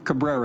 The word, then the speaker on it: Cabrera: Mr Cabrera and and is that Caba ra or I want to make sure I'm pronouncing your name correctly Cabrera is Cabrera okay um could you